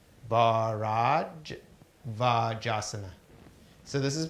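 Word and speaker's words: Bharadvajasana: This is called, it's spelled B-A-H, so it's Bharajavajasana. Bharajavajasana. So this is Bharajavajasana pose.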